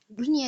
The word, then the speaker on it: dunya: Untuk dua kata ini kecuali dunya dan sinwan dia maka bacanya tidak didengungkan, maka jangan didengungkan tetapi bacalah dunya dan sinwan.